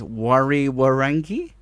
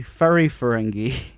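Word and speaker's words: Whariwharangi: Yeah, okay, so this, when you see the words, you think it's Wari-Warangi, but it's actually Fari-Ferengi. So WH equals F.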